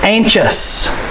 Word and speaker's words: anxious: Anxious. Listen, anxious. Anxious. C-H. The X-I-O-U-S makes the chus sound.